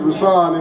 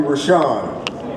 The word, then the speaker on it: Rousan: Did I say So, I'm particular about name pronunciation cuz my name is Rousan and people always call me Rashan. That's not my name.